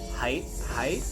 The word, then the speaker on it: HYTE: And by the way, so we were calling it HYTE Festival, and then it's pronounced HYTE.